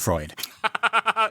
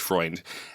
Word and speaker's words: Freund: So it was very it was very close to Freud, but Freund.